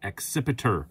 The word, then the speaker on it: Accipiter: And yes, I do know that I am pronouncing that correctly because it is a kind of bird. It's a sort of hawk.